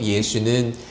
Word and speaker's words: 예수: 여호수아는 히브리식 발음이고요. 예수는 헬라어식 발음인 것이죠.